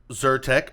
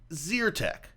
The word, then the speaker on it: Zyrtec: eat or burn so is it zero tech like eat or zyrtec like burn keep in mind I was born and raised on the side that won the Civil War and I pronounce it like eat so he pronounced it z ur tech no it's Zyrtec it's zyrtec okay do you